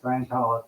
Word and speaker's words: Scientolopedia: It's with an I, just like it's spelled up there behind me. Scientolopedia. Yeah, Scientology instead of Scientology. It's Ipedia.